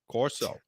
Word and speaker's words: Corso: CORSO.